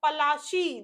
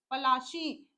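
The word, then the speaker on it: Palashi: Plassey gut it's name Plassey is एन एगली size pronounce ation pronounce of पलाशी देखो अभी मैंने बताया आप लोगों को क्या प्रोनंसिएशन किया था इन्होंने पलाशी एंड द प्लेस राइड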